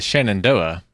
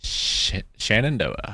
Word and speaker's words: Shenandoah: An Amish beard, also known as the Shenandoah, is a style of facial hair with the